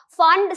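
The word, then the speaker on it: Pfund: P is silent and you call it as Fund series. Fund series are the electrons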